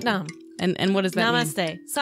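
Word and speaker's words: Sat Nam: Satnam.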